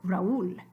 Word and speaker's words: Raúl: Okay, Tío Raúl. The I has an accent mark, the U has an accent mark, so they are going to start their own new syllable.